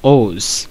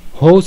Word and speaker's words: whose: আলোচনা করব এটা হচ্ছে ওজ অনেকে এটাকে হোস উচ্চারণ করে আমি বারবার বলে আসছি যে বাংলায় হ উচ্চারণ হবে না ওজ ওস উচ্চারণ হবে ঠিক আছে এখন প্রথমে